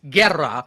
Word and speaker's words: Guerra: It's Guerra, rolling the R.